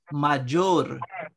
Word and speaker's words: mayor: Mayor ne, major. Major. When after Y, after Y comes a vowel, then Y is pronounced like Jim, like J.